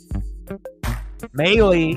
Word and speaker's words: Maile: Had to look up the pronunciation of that last name as well. M-A-I-L-E. Could have been Mail or Mailey, and that's why you got to do your research and do your due diligence so that way you know what you're doing.